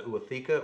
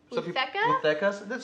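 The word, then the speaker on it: ootheca: It's the long tube is called the Utheca or Utheca? Some people pronounce it differently.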